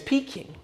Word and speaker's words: Peking: Fun fact, if you Google peeking duck and it explains the pronunciation, need I say more? It's peeking just like me.